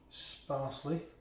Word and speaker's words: sparsely: But I'm just going to use it very, very sparsely. Sparsely, rhymes with parsley, so we'll put some parsley in.